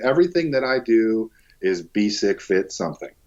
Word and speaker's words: Bisek Fit: Well, I mean, everything that I do is Bisek Fit something. So it's just as it's spelled, BESICKFIT. Anywhere you want to find me, it's Bisek Fit.